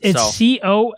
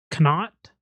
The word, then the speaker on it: Connacht: Give me Munster then, because if you can't pronounce it, you can't afford it. It's CONNACHT. Ulster and Munster. Connacht.